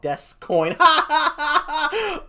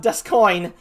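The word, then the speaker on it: D'Ascoyne: says sounds like a cryptocurrency for weebs called desk coin yes it is pronounced dust coin but yes oh that's a good one oh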